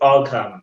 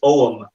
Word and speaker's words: Ogham: Like no one wants to be a Nathan, but it's not pronounced Ogham. It's pronounced Ogham.